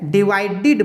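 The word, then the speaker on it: divided: में क्या किए, डी लगा दिए, अब इसका उच्चारण क्या करेंगे, डिवाइडेड, डिवाइडेड नहीं बोलेंगे। ठीक है, डिवाइडेड बोलेंगे।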